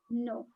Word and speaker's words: know: will understand it is no. It will take a little time for the child to understand that this is, the K is silent.